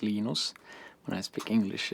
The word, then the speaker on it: Linus: Linus or Linus? What's your preferred pronunciation? When I speak Swedish, it's Linus. When I speak Finnish, it's Linus.